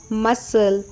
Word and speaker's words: muscle: You know C is often silent in the SC combination. Examples: SCISSORS, scissors, scent, muscle, crescent, fascinate, scene, disciple, ascent, descent, science, conscious, crescent, fasces, muscle, discipline.